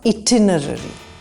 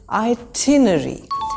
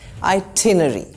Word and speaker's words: itinerary: So this is not itinerary. Just don't say it, say I. Itinerary. In British English, we only pronounce the second R and the first R is silent. Itinerary.